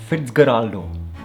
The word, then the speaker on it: Fitzcarraldo: Herzog won Best Director at the Cannes Film Festival in 1982 for a film called Fitzcarraldo, that's how you pronounce it.